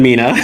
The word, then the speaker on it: Mena: So, I got to ask, you grew up in Mena, Arkansas. Pretty different place here from Central Florida, would you say? Oh, 100%. Yeah, it it it snows in Mena. They they pronounce it Mena, but um and no one would know that